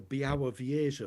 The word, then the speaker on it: Białowieża: And I'll also give you yet another variation on the pronunciation of that eastern Polish forest. It's recorded in the Białowieża forest.